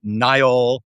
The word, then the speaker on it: Nile: I interviewed the new president, uh Nile. Uh it is pronounced Nile, not Neil.